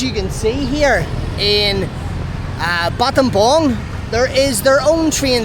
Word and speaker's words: Battambang: I'm in a place in rural Cambodia called Battambang. I originally thought it was called Battambang because how it is spelt, but it's Battambang.